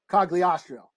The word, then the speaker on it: Cogliostro: Cogliostro.